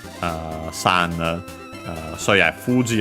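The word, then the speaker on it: 富士: Uh so yeah, Fuji on its own should be accent on the first moa.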